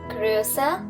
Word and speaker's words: größer: Here also you'll notice a change in the pronunciation. Groß, größer, am größten.